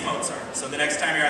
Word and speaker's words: Mozart: things came from mozar everybody say with me Mozart moart not moart no it's it's Mozart okay I know it's a z but Pizza is also spelled